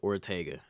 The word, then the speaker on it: Ortega: as you all know my name is pronounced Ortega Ortega I don't I don't